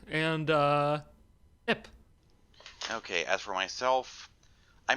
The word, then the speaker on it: IHP: Ip. Yeah, you don't pronounce the individual letters.